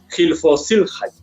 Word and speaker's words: Hilflosigkeit: mejor tú me ayudas, Hilflosigkeit, algo así, ¿no? Suena así como Heil Hitler.